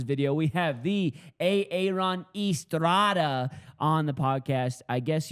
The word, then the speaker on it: Estrada: We have the Aon Estrada on the podcast. I guess you were supposed to pronounce his last name Estrada, not Arada like his daughter uh pronounces her own last name wrong.